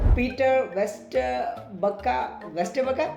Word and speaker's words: Peter Vesterbacka: Peter Vesterbacka. Did I pronounce that right?